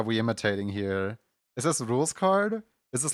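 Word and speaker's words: Rouxls Kaard: Wait, his name is supposed to be pronounced Rules Card.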